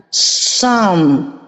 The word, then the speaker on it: Psalm: Psalm, tapi P nggak boleh dibaca. Psalm.